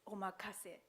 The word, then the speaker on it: omakase: So it is a good idea to remember the Japanese phrase omakase, or leave it up to you. Omakase. Omakase. Okay, good pronunciation.